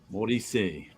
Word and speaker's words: Morisset: So Alain Morisset. Oh, if it's French and the last letter is a T, the T is silent. Maurice.